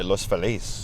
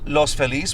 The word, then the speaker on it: Los Feliz: and so we're like being East Hollywood I pronounce it Los Feliz because some people say Los Feliz well it's Los Feliz which means the happy one yes boy yeah